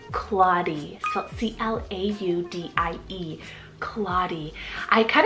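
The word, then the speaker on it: Claudie: vintage Choice here guys we have the name claudy so c-l-a-u-d-i-e claudy I kind of took this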